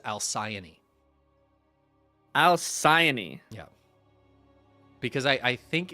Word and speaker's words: Alcyone: I'm gonna go with Alcyone. Honestly, pretty solid guess. I believe the consensus is Alcyone.